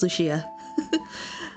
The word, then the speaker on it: Lucia: I think it's Lucia. I was not pronouncing the I between Lush and Lucia. If you say it fast enough, Lucia. But Lucia is what I'm probably going to land on.